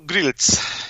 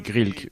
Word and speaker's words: Grils: Oh, Grils. Grils. Grils. Okay. Comme ça se termine par un C, certains disent Grilk, mais c'est Grils. Like Kappa, Grilk, but it's Grils.